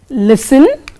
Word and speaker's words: listen: Now, T is not pronounced in these common words children. For example, castle, listen, often and whistle.